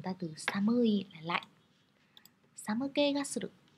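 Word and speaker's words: 寒気: Samuke ga suru. Lưu ý chữ khí ở đây mình đọc là ke nhé, chứ không đọc là ki đâu ạ.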